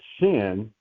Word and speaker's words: shin: Um you already most of you probably know this, but some have taught that it is when you see that that shin it only gets a sh sound like a sh sound.